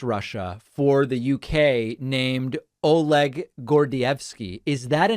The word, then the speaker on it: Oleg Gordievsky: guardian right uh yes oleg gordievsky is my anglicized pronunciation of the gentleman's name okay thank you all